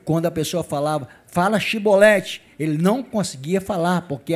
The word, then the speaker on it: Chevrolet: eu sou bom então dize chevrolete porque ele dizia cebolete porque eu não podia pronunciar assim bem eles falavam errado uma vez de falar chevrolete falavam cebolete né É como se falar